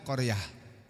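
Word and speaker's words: قرية: Tulisannya qoryatun, membacanya qoriaah.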